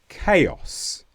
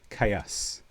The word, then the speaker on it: chaos: yet, and that is when you have the combination C-H-A-O. And here the sound changes completely, and now we say K. For example, chaos, or in some pronunciations in some localities, chaos. Chaotic, chaotically. So remember that special combination C-H-A-O, the sound changes completely to K.